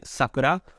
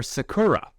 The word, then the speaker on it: Sakura: sound nerdy or not by saying Sakura, which is how I've learned how to say it in Japan. This is the way people say Sakura, or Sakura.